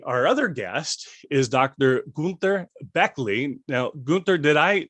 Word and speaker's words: Günter Bechly: Günter Bechly would be the German pronunciation, but that's a bit strange sounding for Americans probably.